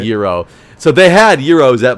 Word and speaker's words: gyro: okay I'm gonna ask you how do you pronounce the delicious Greek sandwich oh it's so people called gyro but it's gyro so I I completely agree with you it is gyro and I always like it into argues that